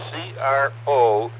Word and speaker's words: Crozet: called Crozet it's it's c-r-o-z-e-t but it's a French pronunciation so it's Crozet and I believe they're